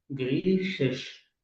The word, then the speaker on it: Griechisch: يعني الكلمه دي بيلتقي فيها شين وشين. جريشش، واحده منهم اخد شفايفي لورا، وواحده منهم شين مطلع شفايفي عادي خالص. وناخد بالنا انه البلاد كلهم ما بتاخدش اداه تعريف.